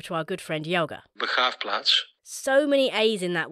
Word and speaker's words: Begraafplaats: To hear its proper pronunciation, I have to go over to our good friend Jelga. Begraafplaats.